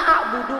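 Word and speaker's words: أعبد: Nah, itu namanya kalau dalam ilmu tajwid qalqalah kubro. Qalqalah kubro karena sukunnya bukan asli. Sukunnya itu baru datang karena waqaf. Karena ada tanda berhenti. Makanya Ibu pantulannya harus kuat.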